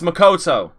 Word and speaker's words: Makoto: just couldn't get it but hearing it it's Makoto yes it's pronounced with a silent h uh bill doesn't